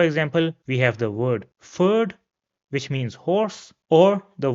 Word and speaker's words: Pferd: After that, we have the combination P and F, and this is pronounced like F in English. So for example, we have the word Pferd, which means horse, or the word Pflege, which means care.